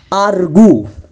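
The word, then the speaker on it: argue: আবার আরেকটি সাউন্ড হচ্ছে আরগু, রাইট।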